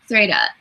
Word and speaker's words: Threyda: Yeah, Threda. Threda. And that's spelled Threyda.